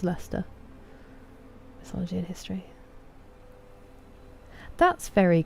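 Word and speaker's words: Leicester: So like worshshire and uh then the city is Worcester and Leester as well. Lots of people say Lester. It's Lester mythology in history.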